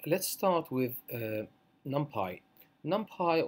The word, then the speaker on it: NumPy: NumPy, or as some people pronounce it, NumPy, is a really powerful array library or array package that can be added to the standard Python.